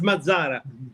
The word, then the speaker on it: Mazzara: of Unholy Nightmare, Mazzara. Am I pronouncing that right? Or is it Mazzara or is it Mazzara? No, it's Mazzara. Mazzara. Mazzara. You did it right.